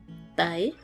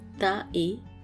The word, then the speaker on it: tae: Comme par exemple, tae, arrivé, se prononce presque te, comme dans très. Et pas tae, mais plus tae.